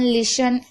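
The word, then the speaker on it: listen: शब्द के आखिरी में टी ई एन हो तो टी साइलेंट रहेगा। जैसे कि ऑफन, लिसन, यहाँ पर आप देख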